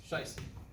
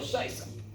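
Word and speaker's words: Scheiße: Scheisse. There's two S's there. One S is pronounced Z. Okay. Well, Scheisse.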